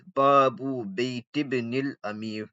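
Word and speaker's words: بابُ بيتِ ابنِ الأميرِ: Okay, and the way you would say is Babu Bayt ibn al-Amir. You wouldn't pronounce this Hamza because this Hamza is Hamzatul Wasl. So it's equivalent to a silent letter in English language.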